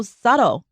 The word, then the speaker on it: subtle: 好的，今天来到我们文化之窗的单元，要来看到的这一篇这个标题呢，中文叫做微妙的亚裔特质。但是其实呢，刚刚我有请教这个 Bruce 老师这里的 subtle and not so subtle. Why? Let's see. I'll start with not so subtle means obvious, clear. Subtle is, by the way, 那个 b 不发音的 subtle, right.